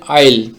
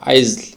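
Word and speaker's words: aisle: তো এখানে কিন্তু এস এর উচ্চারণটা হবে না। যদি এস এর উচ্চারণ হয় তাহলে অন্যরকম একটা উচ্চারণ হবে। আইজ এরকম একটা উচ্চারণ হবে।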